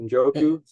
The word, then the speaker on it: Njoku: Njoku, yes, that's correct.